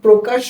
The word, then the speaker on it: প্রকাশ: কা তালব্বস তাই না এই প্রকাশ শব্দটির প্রথম বর্ণ প এর সাথে কিন্তু র ফলা রয়েছে যেহেতু এই প এর সাথে র ফলা রয়েছে এজন্য এর উচ্চারণটা হবে ও কারন্তে অর্থাৎ এই প র ফলা এর সাথে যদি আমরা ওকার ব্যবহার করি এই যে ওকার ব্যবহার করলে এর উচ্চারণটা যেমন হয় ঠিক তদ্রুপ ভাবে এর উচ্চারণ হবে পর ফলা প্রো ওকার